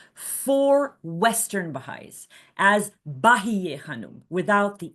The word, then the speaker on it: Bahíyyih Khánum: Bahíyyih is the feminine for most glorious, and it is applied to a woman, so it's Bahíyyih Khánum, not Bahá Khánum, Bahíyyih.